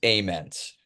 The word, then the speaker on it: Ament: I'm like freak yeah how do you prefer it pronounced it's amens it's that's that's what